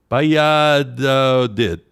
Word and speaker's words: Valladolid: that in Spanish, they pronounce the V like a B, so I got to try to get my brain around that. Then the 2 L's sounds like a Y. Valladolid.